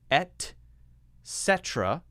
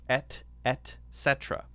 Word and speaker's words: et cetera: It's not pronounced etc. It's pronounced et cetera or etc. Etc. or et cetera. Those are acceptable to me, all right?